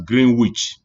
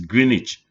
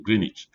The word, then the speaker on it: Greenwich: No, you don't pronounce this as Greenwich, which no day, wizard no day. It's Greenwich. The Greenwich, Greenwich Meridian. So as if you're not pronouncing the W, Greenwich.